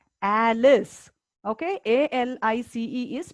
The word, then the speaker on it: Alice: Okay, A-L-I-C-E is pronounced as Alice. It is not pronounced as Elise.